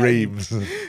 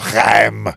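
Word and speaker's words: Reims: Would you say a rem as well rather than reams?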